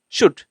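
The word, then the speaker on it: should: শুড হবে না হবে শুড এই যে এল টা এখানে সাইলেন্ট থাকবে এল উচ্চারণ হবে না তাহলে আমরা এটাকে কি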